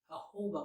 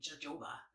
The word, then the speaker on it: jojoba: i used the um jojoba oil i'm not sure if i'm saying that right it's not the j so it's actually jojoba but i think it's actually pronounced jojoba comment below how you think